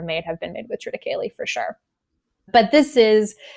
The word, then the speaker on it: triticale: Triticale. Yeah, never heard of that. I mean, people pronounce it differently, but I call it triticale.